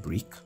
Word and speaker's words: briq: i think it's pronounced brick yeah i think it's brick so just click on